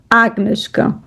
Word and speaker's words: агнешка: And from there is Agnieszka. So the accent is on the A. Agnieszka, not Agnieszka, but Agnieszka.